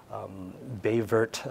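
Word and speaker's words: Baie Verte: and as well in bay vert Newfoundland I made the mistake of pronouncing that with a French accent the first time I went there they thought I was in the wrong town but that was another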